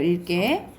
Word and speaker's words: 읽게: 왜냐면 뒤에 기억이 오면 쌤이 리을로 발음된다고. 그래서 읽게예요. 읽게.